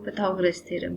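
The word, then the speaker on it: Pythagoras theorem: है तो basically simple अगर हम पाइथागोरस थरम या हम इसी को प्रोनाउंस करें तो पैथ गरस थोरम ठीक है इसको अगर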